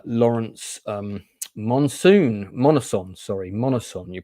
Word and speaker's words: Monoson: just confirmed uh Lawrence um Monsoon monoson sorry monoson you pronounce his name not Monsoon I always called him Lawrence Monsoon it's monison uh he is coming on for an interview